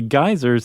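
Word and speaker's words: Geysir: in in origin but that would be g-e-y-s-i-r yes geyser okay that's how I pronounce it in Icelandic sure I wonder how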